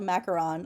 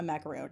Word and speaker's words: macaron: It's not even a debate because it's there's a macaroon and then there's a macaron. But people are constantly mixing up how to say these things. Whenever I watch baking shows, I get really mad when when like bakers, people who are professional bakers call a macaron a macaroon.